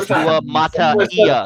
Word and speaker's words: Suamataia: No, Suamataia. You're putting a second E in it.